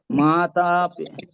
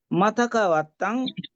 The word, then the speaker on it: মাতা: কাপড় দেয় সেটাকে বলে মাথাকাত এটা হচ্ছে মাথা আরটা হচ্ছে মাতা পিতা মাতা আর মাতা মাথা বলতে মা শব্দের উচ্চারণ এটা মাতা হয়ে যায় আর মাথা বলতে এটা মরা মানুষ হয়ে যায় মরা মানুষের উদ্দেশ্য করে